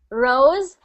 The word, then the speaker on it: Roosevelt: So anytime you see that V, just remember the V. Think of your teeth biting your lip. V. Roosevelt. Good. So it's not the, it's a the. It's not exactly. The. And sometimes I heard you say the V's as W's. So I heard Roosevelt or something like that. So just make sure you're getting that round V sound, the V.